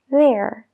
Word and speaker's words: there: There, bathroom, beneath. Fíjate bien, la TH en una de esas tres palabras se pronuncia diferente. ¿Cuál es? There, bathroom, beneath. Si has dicho la primera palabra, there, has acertado.